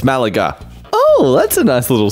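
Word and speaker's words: Málaga: correct me no that's how you say it's Malaga oh that's a nice little sign to see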